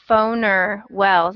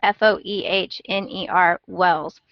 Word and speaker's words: Foehner Wells: I think it's pronounced Phoner Wells. It's Foehner Wells.